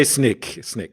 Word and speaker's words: Snyk: So I say Snyk.